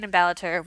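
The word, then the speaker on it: Ballater: we stayed in balatur i don't know exactly where the emphasis on which syllables should be but we say balater which is just east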